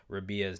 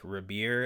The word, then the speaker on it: Rabea: I said that I was going to be pronouncing rabia's name like rir and somebody actually uh informed me that it